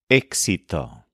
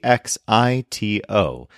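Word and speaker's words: éxito: like this where there's a positive outcome is exito this is spelled e exi t o with an accent mark on the initial e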